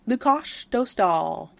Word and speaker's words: Lukáš Dostál: Lukáš Dostál. Got there that we one. go. With the Czech people earlier. will appreciate the pronunciation as well.